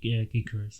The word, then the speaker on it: Gyökeres: Gyökeres, isn't it? Gyökeres.